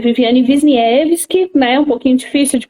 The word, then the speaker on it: Wisniewski: Então, meu nome é Viviane Wisniewski, né? Um pouquinho difícil de pronunciar mesmo.